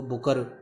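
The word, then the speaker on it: Bucher: Los Angeles में इनका जन्म हुआ और इनके जो नाम की प्रोनाउंसिएशन है वो डच प्रोनाउंसिएशन और इंडियन प्रोनाउंसिएशन वो बुचर है, जबकि यूके में इसको बुकर प्रोनाउंशिएट किया जाता है.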